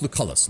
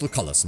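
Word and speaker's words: Lucullus: Lucius Linius Lucalis. Lucius Linius Lucalis. Lucius Linius Lucalis. We're lucky because the hard C helps break up the L sound, I think, in his name.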